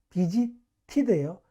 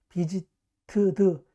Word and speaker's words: visited: 비지티드예요. 비지트드, 비지트트 아니에요. 비지티드, 비지티드. 니드 필요하다. 니드, 니디드예요. 니드드, 니드트 아니에요. 니디드.